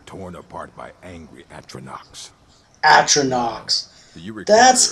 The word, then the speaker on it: Atronachs: Atronachs. That's how you pronounce that.